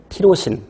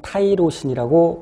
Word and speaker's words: 티로신: 그래서 아스파라긴, 시스테인, 글루타민, 세린, 트레오닌, 그리고 티로신 또는 타이로신이라고 발음하죠.